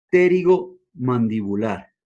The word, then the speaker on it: pterigomandibular: señor llamado el ligamento pterigomandibular. Hacia el extremo posterior de la línea miloioidea, un ligamento llamado pterigomandibular o también llamado rafe pterigomandibular. Acuérdate que pterigo se escribe con P.